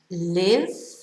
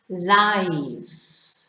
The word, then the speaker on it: live: Okay, number two, we have the pronunciation live and the pronunciation live. Okay, so live is the verb that you use when you ask people where they live.